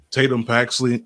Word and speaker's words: Tatum Paxley: And she was eliminated and we end up getting um was it Tatum Tatum Paxley? Did I say her name right? Yes. Tatum Paxley ends up winning it and the bird bird